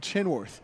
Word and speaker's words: Chenworth: it there is Jackson chenworth like Kenworth but chenworth so that was the word